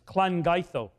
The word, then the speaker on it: Llangeitho: The double L in Welsh is a cl sound. It's Llangeitho.